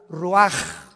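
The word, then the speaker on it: רוח: y exhaló Isaac el Roach así como suena se pronuncia la c en hebreo como J ruaj se le só y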